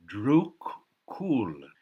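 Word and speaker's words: Druk Yul: of the thunder dragon Drew cool is how the bhutanese pronounce it land of druke dragon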